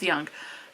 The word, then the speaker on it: Jung: It's Ju Ng and I think it's pronounced Young. Could be wrong on that.